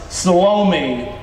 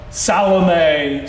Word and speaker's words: Salome: His mother was Salome, or Salome. Some people pronounce it Salome.